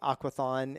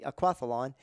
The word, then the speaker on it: aquathlon: And a lot of people say aquathon, and that's becoming more accepted as the way to pronounce that word. But it's actually aquathlon, and that is done correctly.